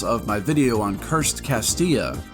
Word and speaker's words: Castilla: my video on cursed castilla i even pronounced it properly this time cursed castilla cursed castilla cursed castillo